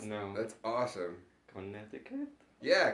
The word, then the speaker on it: Connecticut: pronounce no that's awesome Connecticut yeah Connecticut did I say there's a c that you don't say yeah okay connect to cut right right so it's